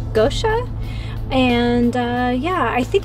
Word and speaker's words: Goetia: going to be starting I believe it's pronounced Gosha and uh yeah I